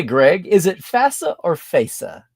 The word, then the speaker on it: FASA: By the way, Greg, is it FASA or FASA?